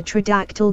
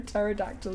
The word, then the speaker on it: pterodactyl: Why can't you hear a pterodactyl going to the bathroom? The P is silent.